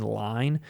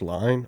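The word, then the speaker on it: Lyne: how the movie looks is it pronounced line i always said adrian lynn adrian line's films have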